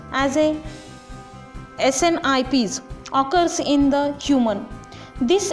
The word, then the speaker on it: SNPs: SNPs, the single nucleotide polymorphism, that is the pronounced as a SNIPs, occurs in the human.